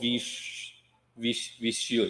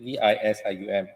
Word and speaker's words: Visium: Okay, I'm not from the field, but this called Visual, is it? Is this the data set you get from is actually called Visual, is it? VISIUM.